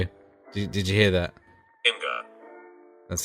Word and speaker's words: Imgur: Imgur.